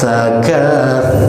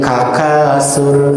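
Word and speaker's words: التكاثر: Alhaakumut takatsur. Siap-siap ujung lidah kita ditempelkan ke gigi seri yang depan ya, gigi seri depan. Sur. Nah, jadi tidak boleh dibaca berdesis. Takasur. Bilih-bilih kayak bacanya jadi kakasur.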